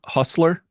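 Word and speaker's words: hostler: uh I was with family and I was pronounce h o s t l e r Hustler you know yard jockey h o s t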